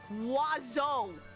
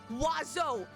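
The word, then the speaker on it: oiseau: out every letter no do you know how it's actually pronounced it's pronounced wazo wazo there's what what no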